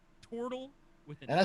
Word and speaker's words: Tortle: More properly, it would be pronounced Tortle with an And I O, said to not a Blair, that man looked like a turtle.